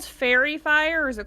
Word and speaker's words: Faerie: called fairy fire or is it called something else? It's called fairy fire, but fairy is spelled Faerie.